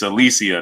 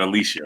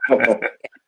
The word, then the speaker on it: Alycia: it's Alycia, not Alicia, right? Yes, if you hear anyone say Alycia, please correct them, because it is Alycia.